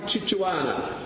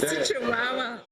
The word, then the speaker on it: Chihuahua: would fight like a Chichuana to retain regional representation. Fight like a Chichuana to fight for regional representation. Where is she? Chichulau. I stand corrected on the pronunciation of the dog.